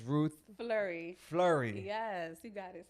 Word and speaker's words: Fleury: that like myself that don't know how to pronounce it the right way, it's Ruth Fleury. Fleury. Yes, you got it. See? See? And Or if you want to say Fleury.